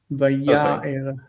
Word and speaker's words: ויאר: one, just notice the stress. Vaya'er.